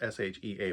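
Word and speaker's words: Sidhe: Um, the she, it's spelled, I think it's spelled Shea, but I think it's pronounced she. It's an old um, Irish or Welsh term for the fairy, for the fae.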